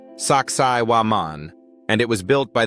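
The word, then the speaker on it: Sacsayhuamán: Its name is Sakaian, pronounced Saksai Waman, and it was built by the Inca civilization, or maybe even those who came before them.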